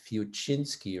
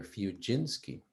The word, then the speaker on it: Fiuczynski: his music you know that's because of the american pronunciation i grew up in germany and up until age 19 nobody called me that because in germany the pronunciation is fuchinski or fujinski oh wow and so